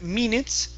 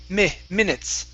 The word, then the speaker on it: minutes: All right, let's use a short I here instead of minutes. It's minutes. Minutes.